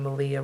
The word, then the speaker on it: Malia: have also seen on Malia rhymes with Maria and Diane NBL podcast